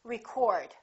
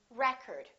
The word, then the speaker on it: record: word pronounced record or is this word pronounced record it depends on if it's a noun or a verb I would like to get the new record first syllable he broke